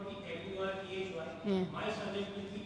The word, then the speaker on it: Murty: That my surname will not be M-U-R-T-H-Y. Yeah. My surname will be M-U-R-T-Y because I believe in the real pronunciation of the surname. હા. So Murthy is pronounced as M-U-R-T-Y and I will not.